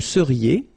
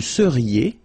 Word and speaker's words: seriez: Vous seriez. So here when you've got this Z at the end, then you get the sound E, seriez. So vous seriez, okay?